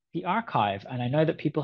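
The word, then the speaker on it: arXiv: preprint server like the archive. And I know that people have people fight about how to pronounce that, but I'm calling it archive.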